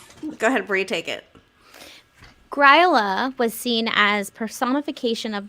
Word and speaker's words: Grýla: I keep wanting to say Grýla. You said Gryola.